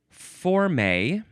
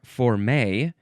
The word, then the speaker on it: forme: Uh, now we got next is for may or for may. You can emphasize either syllable.